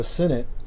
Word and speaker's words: Sinnott: And I always used to call him Sinnott, but I know it's pronounced Sinnott now, right?